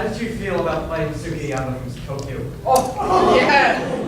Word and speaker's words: Sugiyama: To bring to another into the character, how did you feel about playing Sugiyama from Tokyo? Oh, yeah! It's pronounced Skiyama, thank you very much.